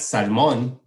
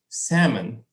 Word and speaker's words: salmon: Mom, it's not salmon, it's salmon. The L is silent in English, remember?